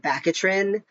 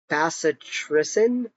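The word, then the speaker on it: bacitracin: So I was calling it bakatrin. Apparently it's called basatricen or something like that. I don't know how to annunciate these things. Um, I probably am still saying it wrong, but that's much closer to what it actually is, but it's the bacteria antibiotic goo stuff.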